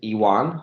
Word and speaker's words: Ioan: For those of you who know, my full name is Iwan. The Romanian version of the name John is spelled Ioan, Iwan, with an I, 2 I's. Second letter is an I, not a Y, because that would be English.